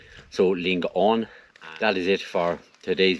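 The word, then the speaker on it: Lingaun: was telling me and also the valley is pronounced Ling on not lingan so Ling on that is it for today's video I really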